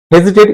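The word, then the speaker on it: hesitate: হেজিটেট ইতস্থ করা। Very good হেজিটেড বানানটা কিন্তু দেখবে hazy H এস আই টেড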